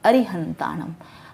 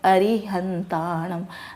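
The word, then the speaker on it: अरिहंताणं: नमो अरिहंताणम, हमें यह ध्यान रखना होगा कि अरि की मात्रा छोटी है तो हम बोलेंगे नमो अरिहंताणम। हम ऐसा नहीं बोलेंगे नमो अरिहंताणम, री की मात्रा को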